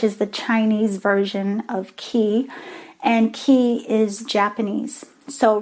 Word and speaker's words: ki: spiritually guided or spirit and ki the K I key means lifeforce so a lot of us are used to the term Qi which is the chinese version of key and key is Japanese